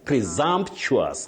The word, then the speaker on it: presumptuous: That s takes what we call the voiced sound. Presumptuous. Presumptuous. Not sheious.